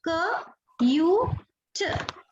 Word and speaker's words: cute: C के लिए K आएगा और ये तो T के लिए T ही आएगा, लेकिन E साइलेंट है तो कुछ नहीं आएगा. तो इसको डिकोड करना है तो यहाँ पे K आएगा, क यू ट, ये इसका फोनेटिक सिंबल रहेगा.